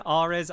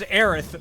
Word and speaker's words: Aerith: Can you give me an Ares? How's that? Ares. Ares. Two lady Ow! voices in call right now. Chat goes insane. It's pronounced Aerith. My bad.